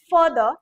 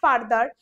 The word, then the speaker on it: further: In fact we also have differentiation in pronunciation, the first word is further not farther, তারপরের ওয়ার্ডটা কিন্তু ফার্দার which means distance।